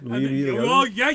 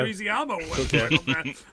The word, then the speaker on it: Leguizamo: Leguizamo. You're going to get in trouble from the Americans for not being able to pronounce the Greasy-Amo.